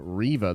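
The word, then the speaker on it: Reva: says her character named riva that rhymes with reba and not the way everyone has pronounced it much love take my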